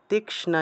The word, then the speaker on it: তীক্ষ্ণা: খাডা গেনা খাডাগেনা তিষ্ণা ক যোগ মূর্ধন্য স তীষ্ণা এভাবে তীক্ষ্ণা এভাবে উচ্চারণটা হবে আর কি ন হব